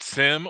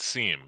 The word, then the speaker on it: SIEM: say see what how do you pronounce that I mean it it's really I mean you could wrestle with people all day about this you know you go through the halls in RSA whatever you know everybody pronounces it different so kind of like sizo and ciso you know you hear both said so um you know